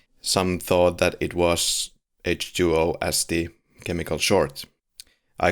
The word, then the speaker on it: H20: hmm is something worth checking out so Halloween h2o is the seventh film in the series it's pronounced in English usually h2o as my understanding